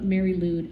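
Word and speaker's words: Mari Lwyd: if you look up the videos of these, like, you can go look up Mary Lude, and it's hard to, it's spelled MARILWYD.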